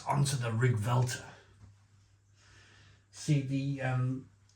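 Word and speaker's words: Riggwelter: 10 right onto the rig vter see the um L and the T or the t is a V when you pronounce it you pronounce it with a V I think it's a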